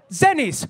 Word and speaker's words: Zenis: And this is a startup whose name rhymes with tennis. They are called Zenis.